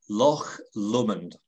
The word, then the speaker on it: Loch Lomond: now okay help me out here loch lomond pronounce it again loch lomond okay now i'll take the high road and